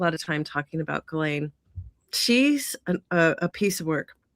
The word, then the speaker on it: Ghislaine: Ghislaine Maxwell. Did I say her name right? Yes, Ghislaine Maxwell.